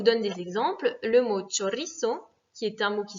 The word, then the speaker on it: chorizo: Le mot chorizo, qui est un mot qui se finit donc par un O, donc par une voyelle, va être accentué naturellement sur ri. Chorizo.